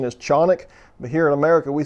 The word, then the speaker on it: Canik: go ahead and call them canic yes the pronunciation is chonic but here in america we see say things the way we want to so we'll call them canik from here on out but it is very